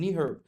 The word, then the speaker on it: NEHRP: which was prepared by NEHRP. اینو در نظر بگیرید، این NEHRP نیست، اینو میخونن اینجوری، انگار میخونید نی، کلمه نی، زانو، هرپ. اینو همه مهندسای آمریکایی که من تو وبینارها دیدم اینجوری تلفظ میکنن، NEHRP Consultants Joint Venture.